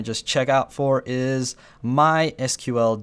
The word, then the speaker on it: MySQL: check out for is MySQL databases uh or my SQL databases that's actually how this word is pronounced I know I'm probably going to get a lot of flack in the comments for saying MySQL but anyway uh yeah